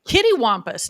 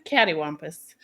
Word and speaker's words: cattywampus: I always say kittywampus, not cattywampus. It's cattywampus.